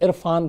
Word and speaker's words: Irrfan: असल में इरफान को अपना ये जो प्रोनाउंसिएशन है जो निकलता है वो ज़्यादा पसंद था, तो उसी को उस पर दबाव डालने के लिए RR लगाया, तो इरफान।